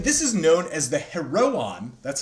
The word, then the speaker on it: Heroon: is known as the Heroon. That's how you say this word. The little, like, the dots above the O mean you pronounce it as two syllables, right? So instead of Heroon, it's like Heroon.